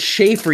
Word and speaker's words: Shaffer: It's Shaffer, you uncultured swine. It's spelled Shaffer. I'm sorry. If I had a C, I would have said Shaffer. But it's chaff. It's spelled exactly like chaff with an S.